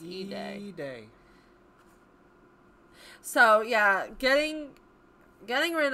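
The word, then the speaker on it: Eday: It's pronounced E-Day.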